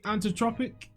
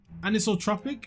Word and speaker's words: anisotropic: noticed that in the anot Tropic anisotropic is how you pronounce it anisotropic filtering was like